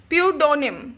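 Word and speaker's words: pseudonym: इसको बोलेंगे, क्या बोलेंगे, प्यूडोनिम। ठीक है, इसको बोलने के लिए आपको एस और ई साइलेंट करना पड़ेगा, प्यूडोनिम।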